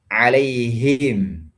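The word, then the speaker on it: عليهم: Kemudian di sini ha alaihim. Jangan masuk ke dada.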